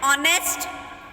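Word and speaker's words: honest: Word ऐसे होते हैं जिसमें एच साइलेंट होता है तो उसमें भी हम एन का यूज़ करते हैं, जैसे an hour, an ऑनेस्ट, and honourable man. यहाँ पे एच जो है साइलेंट है।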